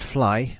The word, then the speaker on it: Flegne: In times past, Flegne next Sea, pronounced Fly by the natives, Flegne by etymologists, and Flegne by the rare intrusive Cockney, had doubtless been a